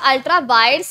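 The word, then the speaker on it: ultra vires: है अल्ट्रा वायड्स अच्छा अल्ट्रा वायड्स है वायरस मत कर देना वी आई आर ई S spelling रखना डॉक्ट्रिन ऑफ अल्ट्रा वायड्स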